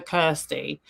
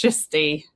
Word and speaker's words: Kirsty: She calls her Kirsty, but it's pronounced Kirsty.